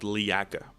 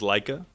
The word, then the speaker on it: Leaka: Our third candidate is called Leaka. At first, I read this name wrong. I thought it was Leica.